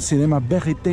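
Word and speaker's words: cinéma vérité: Yo lo he copiado, que se llama Cinema Verité, o si lo quiere pronunciar mejor, Cinema Verité en francés.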